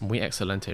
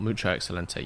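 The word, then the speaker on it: muy excelente: it's a joke but the correct way to say it is Mu excellente not mucha excellente yes I'm well aware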